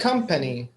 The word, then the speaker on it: company: company how many syllables company how many syllables three three company three company compan correct where's the stress one if the second is lowy company right so the first one is actually stressed come comp company and